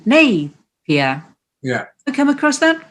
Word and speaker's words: Napier: Apparently, older locals used to pronounce the Lord Napier pub as Lord Napier rather than Napier.